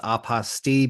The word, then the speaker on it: apostille: my favorites aposti because it rhymes with the name of our podcast unrestricted fees which is another really unique benefit of this.